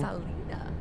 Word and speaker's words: Salida: Salida. Yeah, I said it right. Salida? Salida. Yeah, and then when you said you didn't know how to say it, I said Salida. It's like solidify.